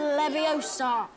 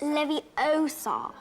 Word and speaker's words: Leviosa: immediately seen here wingardium leviosa stop stop stop you're going to take someone's eye out besides you're saying it wrong it's leviosa not leviosa two she's passive-aggressive hermione